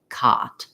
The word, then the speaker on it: cot: the rounding and then make sure that you don't have any rounding when you're saying something like cot in terms of overall